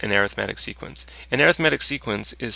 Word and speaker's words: arithmetic: This is, you're probably saying to yourself, arithmetic sequences. No, this is actually pronounced arithmetic sequences. Weird, eh? Arithmetic sequences.